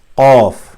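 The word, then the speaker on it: قاف: It is a very hard and full K, or you can say Q. Is qa. So the sound source is qa, is here on the top of the throat again.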